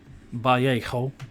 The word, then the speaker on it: Vallejo: Vallejo. That is the perfect pronunciation. Trust me with that.